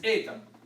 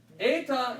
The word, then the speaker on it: eta: Eta looks like an H, looks like the English H, but is always pronounced, roughly speaking, as the same as the epsilon, sound.